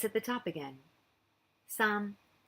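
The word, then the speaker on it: 三: at the top again sum some is like a high falling tone but don't worry about it just think it's high so we're going to go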